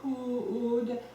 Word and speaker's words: could: And then could rhymes with good, not could, but could. Let's do it one more time for good luck there.